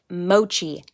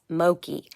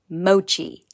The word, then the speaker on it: mochi: let you know that i mispronounced mochi five times in this video and i am really sorry about that it is mochi not moki mochi all right carry on